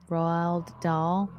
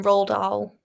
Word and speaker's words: Roald Dahl: can't say his name Royal doll rolled yeah I try and just say as one roll doll roll doll rolled out just roll down try not to think